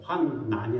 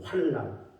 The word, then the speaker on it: 환난: 환난이 아니고 환란, 니을 발음으로 하더라고요.